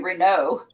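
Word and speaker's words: Renault: a manufacturers well and since it's French it's probably Rena you know what I mean r yes yeah and the American how you would say it right right American us people would say re Ral yeah and then but because it's French the British also oh yeah but they yeah they' like emphatically say it too but they'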